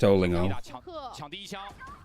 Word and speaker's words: Olingo: So many people asking how it's pronounced. Yeah, it's just Olingo.